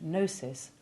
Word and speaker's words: gnosis: rare exception being signage words beginning with gn almost always have silent g as in nor and useful if you like pasta the italian gnocchi the rather specialist words gnostic and gnosis also keep their g silent but one splendid exception